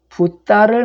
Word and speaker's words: 붓다: 네, 그러면 해석해 보면 세속이 부도에 속이고 꾀임을 믿어서, 그래서 부도는 붓다를 말해요. 그 부처님을 인도식 발음은 붓다라고 하죠.